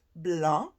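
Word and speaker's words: blanc: our french lesson yesterday we don't pronounce the C and it is pronounced Blan which is for white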